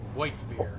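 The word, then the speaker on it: Voigtvir: That's Voigtveer. The V is or the G is silent. Voivir von Valancius has betrayed our dynasty and the Imperium.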